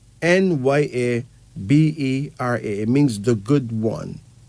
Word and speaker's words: Nyabera: That name is spelled Nyabera, and it's pronounced Enya Bera. Nyabera.